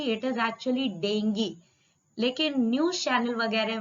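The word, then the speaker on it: dengue: In fact डेंगू जो है, डेंगू को मैं डेंगू बोलती हूँ, ठीक है, कई जगह आपको मिलेगा बेटा that actually dinghy is the correct pronunciation.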